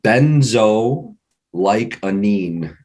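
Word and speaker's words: benzoylecgonine: urine for cocaine um benzo like a neem is kind of how you pronounce that I've had to do that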